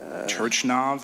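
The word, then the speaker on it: Turchynov: Turchinov, is that how you say it? Turchinov, thank you for helping me.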